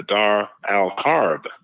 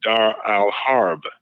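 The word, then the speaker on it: Dar al-Harb: but there an opposite of that called the Dar Al harb d a r then the next word a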